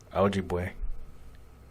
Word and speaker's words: Ojibwe: There you go, pronunciation. Please. Oh, there you go. Ojibwe.